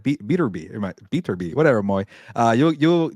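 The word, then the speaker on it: Beterbiev: or maybe uh uh beer be from Russia those guys need to fight by the way a Bibble and beater be I gotta say his name properly my bad uh beater be but uh yeah obviously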